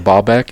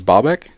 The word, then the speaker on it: Baalbek: Speaking of putting shit on amazingness, have you guys heard of Baalbek?